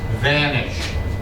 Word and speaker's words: vanish: So um friend and enemy vanish two sounds vanish vanish vanish vanish has to be a v sound vanish because if you make it sound like a b that's vanish that's a different word vanish Vanish.